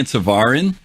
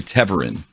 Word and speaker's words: Teverin: And I've been saying Tavarin, and I remember hearing the lore people say Teverin. So I'm gonna have to change my pronunciation of that.